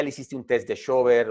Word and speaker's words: Schober: hiciste un test de Schober o de Schorber, recuerden que yo lo pronuncio con la rauma astrohúngara, Shuba, de ser, que es